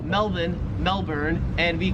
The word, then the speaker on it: Melbourne: it wouldn't matter, because the Australian accent just leaves the R off if it's ever in the last syllable of a word. So you would pronounce Melbourne, Melbourne, and you would pronounce Cairns, Cairns.